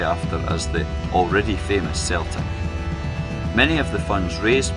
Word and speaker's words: Celtic: team, to be called Celtic. In fact though, Walfrid always pronounced this as Celtic, though he didn't get his way in how the new club would be known.